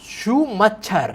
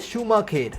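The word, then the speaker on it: Schumacher: Can read शी says शू मच्छर। I know ये Korean मानवा है बट ये जो वर्ड है एक्चुअली जर्मन सरनेम है, जिसकी प्रोनाउंसिएशन है शूमाखेर।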